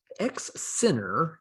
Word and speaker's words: XINR: who were known as x center is the way it's pronounced although it's spelled x i n r i'm not sure how